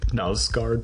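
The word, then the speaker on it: Knausgård: the uh Carl ove NASCAR book my struggle yeah I've never read them but you pronounce the k because that's what I uh uh Norwegian writer told me the first time I mispronounced it back when it was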